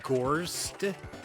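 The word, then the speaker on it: Gorsd: game it is, there's a game called Gorst. That is how you spell it, G-O-R-S-D.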